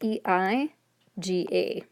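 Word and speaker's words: えいが: So even though this is romanized EEGA, it actually is E-I-G-A. And the pronunciation is just eiga. It's not A-E-ga.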